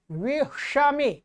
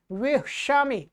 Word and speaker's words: विषमे: दूसरा यहाँ पर ये श आ रहा है, देखिए श उच्चारण में आप ध्यान रखेंगे, श स नहीं है ये श, और यहां पर आया श विषमे विषमे, ठीक है।